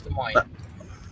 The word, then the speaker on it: Des Moines: blank park so it's state capital here it's des moines cool des moines des moines it's uh especially des moines like kansas hey